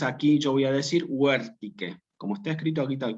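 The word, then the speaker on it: vertice: Bueno, nunca se dice vértice, sino que yo tengo dos posibilidades aquí. O digo huértique, o digo huértice. Huértique es en latín clásico.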